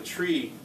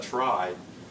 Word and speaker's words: trie: so the whole idea of the tree or try I'll try to call I'll try to call it a try um just just to